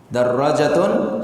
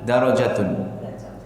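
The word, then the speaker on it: دراجة: Darrajatun, sepeda. Nah, jangan salah, kalau tidak ada tasdid dan alifnya, darajatun, nah, derajat, ya, itu derajat, beda ya.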